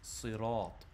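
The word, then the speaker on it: صراط: called Hafs and Asim, which tells you it's sirat. That is the actual pronunciation, the only way you can pronounce it.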